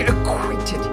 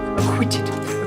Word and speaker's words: acquitted: grounds of immorality uh before being acquainted acquitted is how you say it the other it is